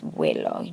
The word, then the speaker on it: huelo: Okay, and in Spanish we do pronounce the U, so huelo, but we put an H there before it, so it's huelo.